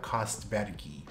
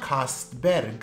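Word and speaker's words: Kastbergii: has their last name, you're supposed to attempt to preserve the pronunciation of their last name in their original language. And in Swedish, it is not Kastberg, so we cannot call it Kastbergi, it is Kastberg.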